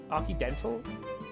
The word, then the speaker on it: Occidental: So it's like accidental, but it's occidental. Okay, that makes... Okay, you know what? That makes sense. An Occidental eatery 3 days ago.